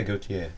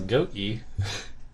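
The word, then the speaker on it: Gotye: Yeah, Gautier. I thought it was Goatsy.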